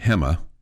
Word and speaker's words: Gemma: Which is why the Lady Raider point guard from Spain, her name it's spelled Gemma. It's pronounced Hema, okay?